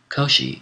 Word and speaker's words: Koshi: this pass Koshi footnote Koshi is the Japanese pronunciation of the name of the Chinese philosopher kungu or Kung vuu whom we call confucious end of footnote and